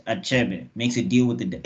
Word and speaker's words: Achebe: I guess is that it's not something where we hide letters so I know I I in my mind it's a cheby and Chapman is basically